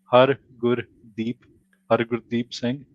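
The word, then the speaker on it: Hardeep Singh: people have challenges pronouncing so you want to pronounce it you break it down so it's har deep deep sing yeah and then you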